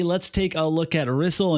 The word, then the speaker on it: Rysol: take a look at Rizzle and yes that's how you say her name I can prove it